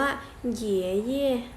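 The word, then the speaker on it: 爷爷: ปู่ ใช่ มั้ย ฮะ คุณ ปู่ ภาษา จีน ออก เสียง ว่า เยี่ย เยี่ย เยี่ย เยี่ย ถ้า จะ บอก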